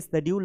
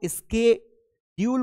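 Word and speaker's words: schedule: लेकिन ये शेड्यूल नहीं होता है। इसको हम स्केड्यूल पढ़ते हैं।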